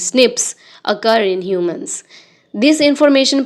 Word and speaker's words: SNP: Number nine, scientists have identified about 1.4 million locations where single base DNA differences SNP is single nucleotide polymorphism pronounced as snips occur in humans.